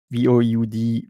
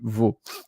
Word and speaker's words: Vaud: So Vaud, I think it's pronounced VOUD, Vaud.